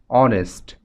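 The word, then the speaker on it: honest: কারণ এই শব্দটির উচ্চারণ হচ্ছে অনেস্ট। যদিও এখানে শব্দটির শুরুতে এইচ আছে, কিন্তু এইচ এখানে অনুচ্চারিত থাকছে, অর্থাৎ এই শব্দটির উচ্চারণে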